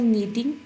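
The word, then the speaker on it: knitting: अब ये देखें कनीटिंग नहीं हम पढ़ते बल्कि क्या पढ़ते हैं? के इसमें साइलेंट होता है। आई वाज़ नीटिंग एंड आई हैड टू रैप a gift of माय डैड।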